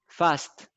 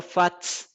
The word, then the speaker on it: fast: facts, No, no fats. It is fast. facts, No. Usted me está diciendo fats, me está pronunciando la T primero antes que la S. Y es la S antes de la T.